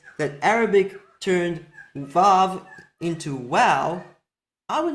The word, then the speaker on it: Waw: The common pronunciation of this letter today as Vav rather than Wow is a reflection of conventions in the modern period, primarily those hailing from Germanic language practices.